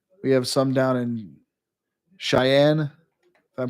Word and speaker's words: Cheyenne: We have some down in Cheyenne. I'm pronouncing that right?